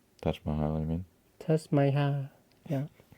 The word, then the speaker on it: Taj Mahal: Probably I want to see Thai Maya. Taj Mahal, I mean. Taj Mahal. Yeah. Thai Maya. We work on that pronunciation.